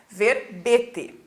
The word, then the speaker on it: verbete: palavra verbete é um Olha que o erro som fechado né tá mostrando e c com acento circunflexo porque a pronúncia é verbete substantivo masculino e os